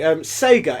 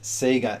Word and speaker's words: Sega: Anyway, Sega SC3000, that's really strange when you think about it.